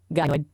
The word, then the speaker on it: gynoid: Yes, pronounced gynoid.